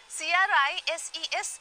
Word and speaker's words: crises: नहीं, C-R-I-S-E-S is the plural, but the pronunciation is crises. Crisis and crises.